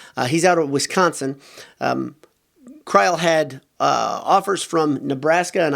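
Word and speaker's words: Kreul: a true freshman named ben kreil it's spelled looks like cruel k-r-e-u-l he's out of wisconsin kreil had offers from nebraska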